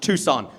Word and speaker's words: Tucson: And I say it's actually pronounced Tucson.